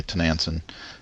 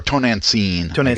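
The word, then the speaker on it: Tonantzin: And so and I'm stirring up trouble the way Tenanson did in that way as well. So, or Tonancine, yeah. Yeah, it's got the accent on the end.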